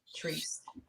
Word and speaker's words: Therese: Then there's some that it's just Treese. So it's THERESE. Treese. I have a friend that her name, she spells it that way. That's her name, though? Just Treese?